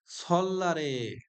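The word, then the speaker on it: 설날: বিস্তারিত এখানে দেওয়া আছে সল্লারে অর্থাৎ নববর্ষে রিউল বাসিমের পরে নিয়ন থাকলে নিয়নের উচ্চারণ ল হবে রিউল বাসিমের পর নিয়ন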